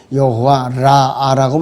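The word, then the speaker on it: יהוה רפא: 이 히브리어 발음은 여호와 라아라고 발음을 합니다.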